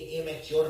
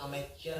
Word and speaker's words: amateur: ये एमेच्योर नहीं है, ये अमेच्योर है। स्पेलिंग देखिए ध्यान से, पहले लिखिए अमेट, फिर लिखिए ईयर, अमेटियर। तो ये है अमेटियर, AMATEUR।